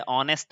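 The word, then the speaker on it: honest: जैसे देखिए यहाँ पे यच से स्टार्टिंग है, स्टार्टिंग यच से है, ऑनेस्ट लिखा है, लेकिन इसका प्रोनाउंसिएशन कैसे होगा, अ से होगा।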